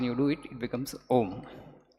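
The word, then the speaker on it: ॐ: has to start here no om actually is a condensed word condensed sound symbol of three letters when you pronounce ah you have to use your throat ah ooh it just rolls right and ma you do use your lips two lips should touch ma ah um fast when you do it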